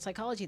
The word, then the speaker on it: psychology: Psychology, the P is silent.